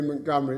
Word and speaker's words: Montgomery: in its proper context I pronounce it by the way Montgomery because that's how the family pronounced it it's a Scottish family and I believe also the great field Marshall pronounced it that way so forgive me if you don't like it but that's how Mrs Montgomery pronounced her name the decision in that